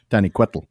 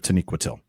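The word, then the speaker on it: Taniquetil: I used to pronounce it taniquet. I mean, I didn't really pronounce it Aztec, but I did pronounce Taniqued instead of Taniquatil and and learning where the stress goes.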